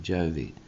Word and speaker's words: Juvy: That's my wife's name, Jovy. Spelt J-U, pronounced J-O. It's written J-U-V-Y, but it's pronounced J-O-V-Y.